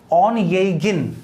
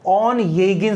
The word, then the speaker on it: Onegin: उसने जो सोनेट्स लिखे वो थे ऑन येगिन, इसका प्रोनाउंसिएशन ध्यान रखना है, ONEGIN, ऑन येगिन सोनेट्स।